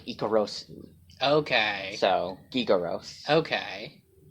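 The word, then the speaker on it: イカロス: pun on Icarus Icarus Icarus in Japanese is pronounced as like eco rose okay so ego rose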